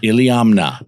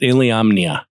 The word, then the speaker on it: Iliamna: Iliamna. My dad used to call it Iliamomnia because that's the way it's spelled.